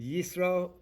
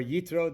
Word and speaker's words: Jethro: i am talking about jethro as in isro or yitro depending on how you pronounce uh whether you pronounce it uh that the hebrew letter suff or you pronounce it as a tough but jethro is moses